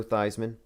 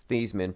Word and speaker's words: Theismann: a lineage starting with joe theismann thiesman probably but joe thiesman i call him how it's spelled who had his leg